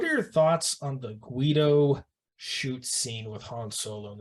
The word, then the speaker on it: Greedo: Did I say Guido? It's Greedo? You did. It's all right, whatever. Greedo with an R.